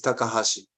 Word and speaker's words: Takahashi: k we pronounce but my surname is takahashi so please call me uh yeah a formerly please please call me professor takahashi and just call me